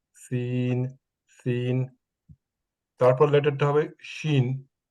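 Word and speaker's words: شين: scene তারপর লেটারটা হবে শিন শিনটা উচ্চারণ করার সময় দ্যা centre of দি tongue touch দি upper palette ইয়াতে পিকচার দেওয়া আছে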